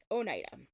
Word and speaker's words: Oneida: we can at least learn how to maybe pronounce their name correctly so Onida and I do think that generally speaking people who live in that area like it's the name I know right right right right pronounced that way um so this is